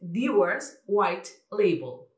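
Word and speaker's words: Dewar's White Label: Tomad nota, es Dewars White Label.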